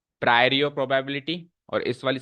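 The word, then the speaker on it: priori: संभावना को कहते हैं प्रायर और प्रोबेबिलिटी और इस वाली संभावना को कहते हैं पोस्टीरियर प्रोबेबिलिटी स्पेलिंग लिख के बताता हूं प्रायोरी पी आर आई ओ आर आई प्रायोरी और इसको बोलते हैं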